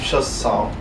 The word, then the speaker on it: Schossow: Schossow.